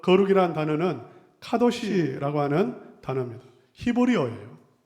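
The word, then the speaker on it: קדוש: 성경에서 말하는 그 거룩이라는 단어는 카도시라고 하는 단어입니다. 히브리어예요. 우리가 지금 쓰여있는 히브리어는 여러분은 앞에서부터 읽을 텐데 그래서 쉬도 카라고 읽을 수 있어요. 그러나 히브리어는 뒤에서부터 읽습니다. 그래서 카도시.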